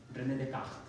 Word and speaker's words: René Descartes: No, René Descartes. Bueno, es mejor pronunciarlo en francés. ¿Sí? Era francés. René Descartes.